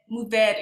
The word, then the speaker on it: Mourvèdre: Mourvèdre is how you say it. It's just 2 syllables.